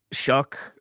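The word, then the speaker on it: Shough: never pronounce his name show is it really with a CK Tyler shuck I only know this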